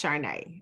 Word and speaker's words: Caarne: you okay so so my name is spelled c-a-a-r-n-e so that's Chardonnay I know it doesn't sound like it but it is what it is and it will never be anything else however my business my